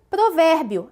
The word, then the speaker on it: provérbio: E a terceira, provérbio, acento aqui na sílaba ver, também uma paroxítona terminada em ditongo crescente.